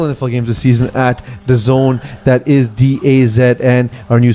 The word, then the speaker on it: DAZN: So it's not pronounced Days In. The Zone.